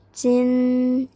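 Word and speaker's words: 金: selanjutnya ini adalah jin Cin Cin dia huruf j j Tapi bacanya C Cin Cin Cin nada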